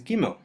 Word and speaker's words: Gimel: Without the Dagesh, Gimel sounds like a soft G, G. And with the Dagesh, it sounds like the G we're used to in English, G.